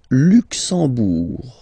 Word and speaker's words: Luxembourg: Le Luxembourg, okay, final G not pronounced, and then when you combine this M here, you get the sound en. You don't pronounce the M at all, it's this nasal en, okay?